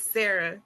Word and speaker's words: Sa'Ra: My biggest challenge was always like, how do you pronounce her name? But I'm like, it's Sarah, right? Yes, it's Sarah.